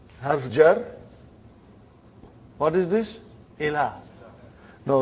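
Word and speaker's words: إلى: Ila. Now right now there are no 2 dots. Actually it is hamza, lam and ya. Right now we say ila. It's pronounced as alif.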